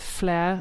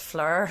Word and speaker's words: Fler: to it i think with flair another rapper yes which we've worked out that i pronounced fleur which is great i